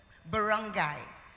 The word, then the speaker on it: barangay: Can I get the pronunciation? Barangay.